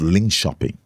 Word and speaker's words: Linköping: went to many years ago I went to Linköping. Linköping is a town in Sweden. Linköping. It's spelled l i n k o p i n g. But it's pronounced Linköping.